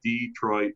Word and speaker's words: Detroit: Mike, is it Detroit or Detroit? A lot of people pronounce it a lot of different ways, but I say Detroit, Michigan, Okay, cool. Kind of like Detroit basketball, there you go.